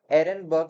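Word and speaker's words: Ehrenberg: सो ये जो term bacteria है ये दिया था एरेनबर्ग साइंटिस्ट ने। ठीक है? एच जो साइलेंट है एरेनबर्ग नाम है इनका।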